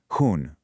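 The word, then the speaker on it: हूँ: It has that same soft nasal sound at the end. Hoon.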